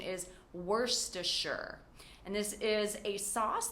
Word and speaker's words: Worcestershire: The correct pronunciation is Worcestershire.